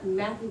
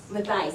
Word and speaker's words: Matthias: Mia Matthew, how do you say your last name? Matthias, thank you.